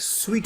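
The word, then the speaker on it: suite: होता है मुकदमा, और एक स्वीट होता है, इसका उच्चारण होता है स्वीट। तो एक डिलक्स कमरा किसी होटल में जिसमें एक से ज़्यादा कमरे होते हैं उसको स्वीट कहते हैं, इसको प्रोनाउंस करोगे स्वीट, इसका प्रोनाउंसिएशन मिठाई जैसा है, स्वीट, ठीक है,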